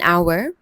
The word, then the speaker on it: hour: We use an because the H is silent and the first sound is the vowel O.